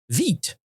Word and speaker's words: Vite: pronounce vit vit French vit. Okay, it's vit.